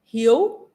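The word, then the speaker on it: hiếu: Vietnamese pronunciation for that it's h-i-e-u it's like you you know your name you in English yo okay he shut up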